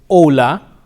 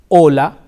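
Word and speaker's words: hola: with the letter H however the H is silent it is Ola hombre hombre okay very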